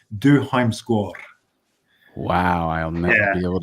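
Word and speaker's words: Dødheimsgard: So like you like I never remember how to pronounce the name, but Dod Himsgard. Yeah, my wife speaks Norwegian, and she corrected my pronunciation is Du Heimskår.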